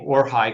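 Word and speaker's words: Orhay: The Syriak name orhigh continues that or tradition in Arabic is called aruha.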